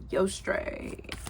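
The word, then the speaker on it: Eostre: Yostray. Okay, that's how you pronounce her name.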